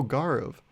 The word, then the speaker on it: Garv: it's right there also it helps you pronounce my name it kind of makes sense now right now you're like oh garv yeah that makes sense it's like garbage awesome um actually there